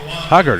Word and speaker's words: Huggard: Huggard is what they're going with here. Heard it pronounced multiple different ways.